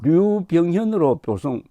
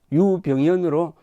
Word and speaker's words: 유병현: 이분 한자는 버들유자니까 류병현으로 표기하는데 유 장군님은 유병현으로 불러주기를 원했습니다. 그래서 류병현이 아니고 유병현으로 제가 지금 발음을 하겠습니다.